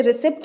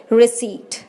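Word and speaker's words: receipt: आज से कोई भी इसे रिसिप्ट नहीं बोलेगा, इट इज़ रिसीट।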